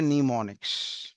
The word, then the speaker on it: mnemonics: नीमोनिक्स। क्या नाम दिया बेटा? नीमोनिक्स। एम नाम का शब्द यहाँ पे साइलेंट है, इतना आपको रीड करना है।